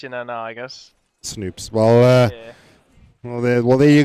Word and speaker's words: Snoops: Yeah, you pronounce his name Snoops, by the way, as in like Snoopy.